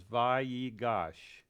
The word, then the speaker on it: Vayigash: That little period in its mouth there inside the Yud, that is telling us that you pronounce that letter twice. Vayigash. Vayigash. Okay? If it wasn't for that yud, then you would say Vayigash. But because it's got the little period inside of it, we know we're supposed to do a double pronunciation.